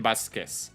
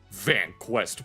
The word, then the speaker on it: Vasquez: So yeah, Ian Vasquez is how you say it. Vanquest, what the hell?